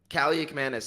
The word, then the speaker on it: Kaliakmanis: Kaliakmanis, that's how you pronounce it, right? Kaliakmanis, yeah, Ethan Kaliakmanis.